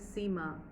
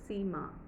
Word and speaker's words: Seema: In Hindi, my name is Seema. Ma is the focus. Seema.